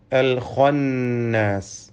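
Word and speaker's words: الخناس: അൽ ഖന്നാസ്, ഇതിലെ ഖാഇന് തഫ്ഖീം നൽകി പെരുപ്പിച്ച് സ്വരഭാരത്തോടെ ഉച്ചരിക്കണം.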